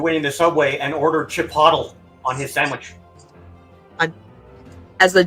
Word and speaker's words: Chipotle: He's like, "I want chipotle." They're like, "Oh, you mean Chipotle?" He's like, "Is that how it's pronounced?"